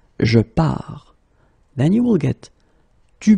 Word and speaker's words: pars: So the first form will be je pars, okay? Remember, you put this S, you don't pronounce it. Je pars.